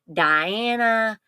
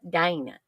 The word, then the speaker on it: Dana: Southern accent so sometimes when I say my name Dana it comes out to other people that aren't from this area sounding like Dana Diana all kinds of things but Dana you know and so this this